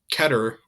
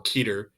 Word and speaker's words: Keter: The class above Euclid is Keter or Keter. It depends on how that's pronounced sometimes.